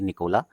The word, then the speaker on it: Nikola: Spelling लिख लीजिएगा ध्यान से, NIKOLA, निकोला, TESLA।